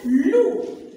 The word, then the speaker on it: loup: L avec OU, ça donne loup. Le P, elle est muette. C'est une lettre muette.